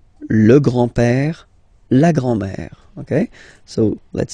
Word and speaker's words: grand-père: So, le grand-père, grandfather. Le grand-père. Remember, E accent grave like that. It's this opened pè.